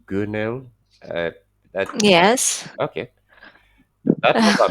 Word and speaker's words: Gunel: I think you said it's pronounced Gunel.